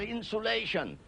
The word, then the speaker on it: insulation: is insulated notice insulation I pronounce that insulation to to distinguish it from insolation a point I made once before on a program insolation incoming solar radiation that one cools the